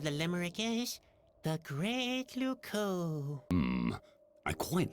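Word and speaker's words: Loucaux: Luco doesn't really rhyme with Bordeaux. It's spelled completely differently. Really? Luco is spelled L-O-U-C-A-U-X.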